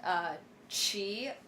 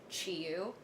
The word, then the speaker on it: Chi: My legal name is pronounced Chi. So the common English way that people pronounce it is they pronounce it like Chi-yu, which is fine.